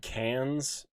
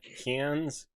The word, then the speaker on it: Cairns: Yeah, I'm not 100% on it, but Google said cans or like cans.